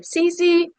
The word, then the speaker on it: Xixi: It's spelled Xixi, so that's half of my name. And my family would ask me, say your name. And I didn't know how to say my name. So I'd say CC.